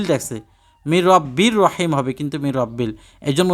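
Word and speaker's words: مِنْ رَبٍّ رَحِيمٍ: আপনাকে পড়তে হবে সালামুন কওলাম রব্বির রাহিম দেখেন মির রাব্বিল লেখছে মির রাব্বির রহিম হবে কিন্তু মির রাব্বিল এজন্য উচ্চারণ অনেক সময় বলতে চাই না কিন্তু আপনারা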